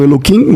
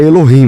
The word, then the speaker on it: Elohim: Vocês falam Eloim, mas eu o termo é Elohim, né? Na verdade, é no É, é que no lugar do K é o H, né?